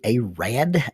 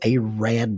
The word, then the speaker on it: Arad: It is pronounced Arab, not Arab. Arab, Alabama. It was supposed to be Arad, Alabama, A-R-A-D, and the postmaster flopped that letter over.